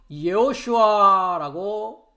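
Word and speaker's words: ישוע: 그래서 예슈아라고 히브리어로는 발음을 하는데요.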